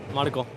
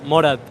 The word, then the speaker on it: Morat: Morad.